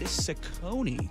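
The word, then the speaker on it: Cecconi: Robbie Ray goes for his ninth win versus Riley Slade Sakonei. Yes, I had to look up how to pronounce that.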